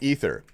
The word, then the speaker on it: aether: Dude, aether is a madeup word. The real word is pronounced ether.